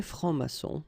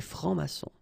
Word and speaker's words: francs-maçons: Des francs-maçons, and then you don't pronounce them. Des francs-maçons.